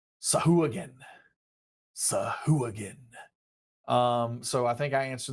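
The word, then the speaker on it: Sahuagin: a bit of gusto Sahu again alright so Sahu again is the official pronunciation but you can do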